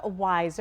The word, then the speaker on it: Wyzr: It is called WISE, but it's spelled W Y Z R.